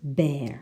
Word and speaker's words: bear: number one eeeh now the word which is different is bear so listen we have fear near idea but bear can you hear the difference number two